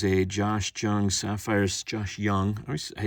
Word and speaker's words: Jung: Josh Jung Sapphire Josh Young the J always S I know it's young but I see that J